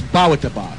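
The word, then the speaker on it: Bawitdaba: It's Ba-wa-da-ba.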